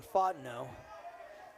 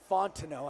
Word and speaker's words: Fontineau: Two strike count on Fineau. It's actually Fontineau. I don't know why I keep leaving the T silent. I apologize to anybody listening out there.